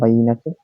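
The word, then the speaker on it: بينة: হচ্ছে বাইনাতুন শব্দটি হচ্ছে বাইনাতুন এই উচ্চারণের হচ্ছে বাইনাতুন অর্থ হচ্ছে স্পষ্ট সুস্পষ্ট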